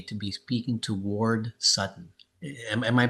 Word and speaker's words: Sutton: I'm honored today to be speaking to Ward Sutton. Am I pronouncing your last name right?